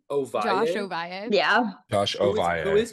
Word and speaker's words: Ovalle: Josh Ovalle.